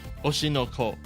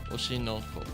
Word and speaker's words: Oshi no Ko: Oshinoko. It's spelled O-S-H-I. Let me just type that down. I will write it down in chat. Oshinoko.